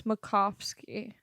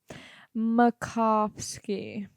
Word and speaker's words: Macofsky: name I mean know if people overthink it yes but it's pretty simple it's Makovsky makovski but so many of